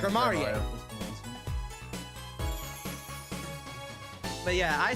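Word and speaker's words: Gramarye: I'm gonna stick with Grammarier. It sounds more, I don't know, mysterious? How did you say it was pronounced? Apparently it's pronounced grammary.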